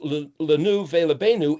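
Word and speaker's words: לנו ולבנינו: Now, the word for us and our children is pronounced lenu velebenu, and it's got dots above it.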